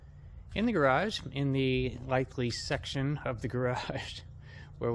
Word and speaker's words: Litheli: maybe it's just the website link to the lightly website that's how you pronounce it by the way lightly they actually sent me the pronunciation so uh